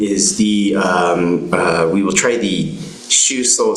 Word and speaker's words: Shuso: So I'm not sure if there's one online in terms of where you could find the Shuso Sango Saho. Again, it's spelled S-H-U-S-O.